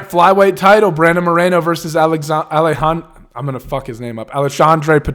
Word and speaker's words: Alexandre: when I'm reading it I want to say Alexander I think it's alessandres how they pronounce it right the first name but